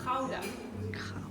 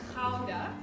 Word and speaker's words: Gouda: Actually, the correct pronunciation of this name in Dutch is Gouda. Yes, so you know it as Gouda, but we Dutch people, we say Gouda.